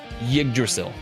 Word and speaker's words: Yggdrasil: Yggdrasil. Nailed it. Yggdrasil path. I've always been saying it properly. You're gaslighting saying I've always been doing it. Like anybody who's played Valheim knows how to say Yggdrasil.